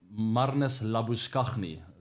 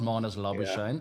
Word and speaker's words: Marnus Labuschagne: Marnus Labuschagne. That's how you pronounce it, by the way. It's not Marnus Labuschagne. Yeah. I know he likes to go by that name these days, but he'll never be Marnus Labuschagne in South Africa.